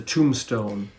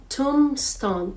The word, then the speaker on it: tombstone: is silent Tombstone Tombstone although you write t t o m b s t o n e but you don't say the b so Tombstone Tombstone and